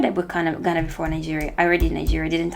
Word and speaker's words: Niger: Niger is actually pronounced as Niger, according to my friend from Niger. I used to call it Niger, and he was very offended. So I'm going to stop. It's Niger because it's French.